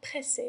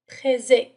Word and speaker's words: pressé: إذا كما رأينا سابقا في القاعدة ف S entre deux voyelles تنطق Z. يعني إذا كانت لدينا S واحدة فقط فسننطقها pressé. لكن دائما نضع deux S entre deux voyelles لكي ننطق S. لكي يكون لدينا le son S.